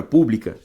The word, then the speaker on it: pública: pública e a palavra pública ambas existem na Língua Portuguesa e se diferenciam como pela sílaba tônica pblica paroxítona pública pró paroxítona ele quer que você